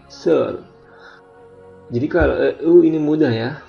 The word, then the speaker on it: seul: Ini juga L-nya dibunyikan, seul.